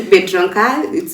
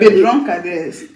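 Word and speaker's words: Biedronka: especially in Bedronka.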